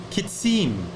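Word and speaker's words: חִצִּים: going to be uh kitsim kitsim is that how you pronounce it louise yes okay thank you thank you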